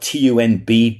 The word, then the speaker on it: Tunb: And then there's like it's spelled TUNB, Tunb.